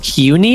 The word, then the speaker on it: CUNY: It's pronounced CUNY, apparently.